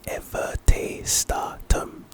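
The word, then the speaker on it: Everte Statum: the next spell is everte stum ever stum pronunciation everte stum very very simple this is our first Jinx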